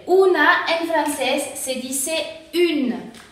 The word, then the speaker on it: une: en francés se dice une, que se pronuncia como U del abecedario y N, porque la E final no se pronuncia y se pronuncia une.